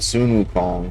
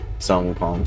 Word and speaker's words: Sun Wukong: He's let me know I've been saying the name wrong. So sometimes the westerner come out at me and say son Wukong still but I mean Sunun Wukong.